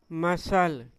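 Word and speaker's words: muscle: तो इसको हम क्या पढ़ेंगे? मसल। क्या पढ़ेंगे इसको? मसल। सी साइलेंट हो जाता है।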